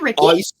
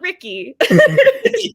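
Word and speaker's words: Rikke: of a little hatred there's a rhyme where it rhymes with Ricky not even just the beginning they make it through all the books they're like oh Sticky Ricky Tricky Ricky I'm like how can it rhyme with sticky and tricky if it's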